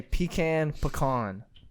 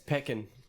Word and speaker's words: pecan: what is the right way to say pecan? Pecan. I thought we were talking about this. Pecan. No, you It's didn't. not Pecan. pecan or pecan. It's Pecan. It's peckin.